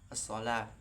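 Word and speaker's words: الصلوة: Jadi, asalawa itu tulisannya tapi dibacanya tetap asalah.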